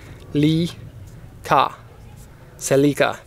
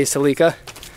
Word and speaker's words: Celica: do this video without explaining the way that we pronounce uh celika take a look at this so this is Japanese is sea Cela in Canada we say celika in the USA they say Celica and I'm not going